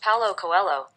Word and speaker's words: Paulo Coelho: That's pronounced Paulo Coelho.